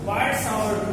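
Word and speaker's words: Biot–Savart: अब वायर्ड सावर्ट लॉ, वायर्ड सावर्ट लॉ T silent है, वायर्ड सावर्ट लॉ किसके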